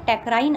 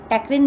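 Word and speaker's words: टैक्रीन: Acridine में टेक्राइन आता है, टेक्रिन भी आप इसको प्रनाउंस कर सकते हैं।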